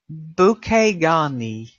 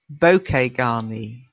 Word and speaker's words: bouquet garni: buckets absolutely and again it's from the French because we take a lot of French words in English when it comes to